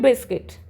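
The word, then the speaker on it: biscuit: Next है बिस्किट, तो बिस्किट जो वर्ड है इसमें साइलेंट कौन सा लेटर होता है, U लेटर जो है वो साइलेंट होता है, क्या बोलते हैं हम, BISCIT, बिस्किट।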